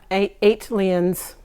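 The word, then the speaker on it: ATLiens: ali eight eighteen eight come on how do you say it yeah eight lions iconic album this is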